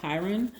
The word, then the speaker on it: Chiron: be talking about the minor planet chiron or chiron however you could prefer to pronounce it i'm going to pronounce it chiron